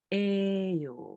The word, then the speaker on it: 예요: Ouais, en fait, ça s'écrit 예요, mais ça se prononce 에요.